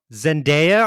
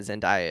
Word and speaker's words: Zendaya: Kind of the way Zendaya.